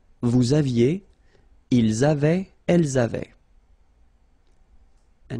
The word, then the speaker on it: aviez: Il avait, final T not pronounced, elle avait, nous avions, little liaison, final S not pronounced, nous avions, vous aviez, same thing here, little liaison between the two, ils avaient, so remember,